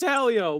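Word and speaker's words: Hélio: It is Helio, but how long are you going to pronounce his name wrong for, Mel?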